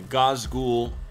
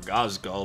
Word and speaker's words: Ghazghkull: how I painted up my Gau ghoul or gazal depending on how you pronounce it thaka model for my